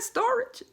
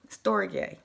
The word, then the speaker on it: storge: first saw that word i said is that storage is that something a part of a store storage but it's pronounced store j story gay s-t-o-r-g-e it's a kind of family and friendship